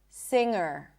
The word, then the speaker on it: singer: Sing, singer. I did not pop the G.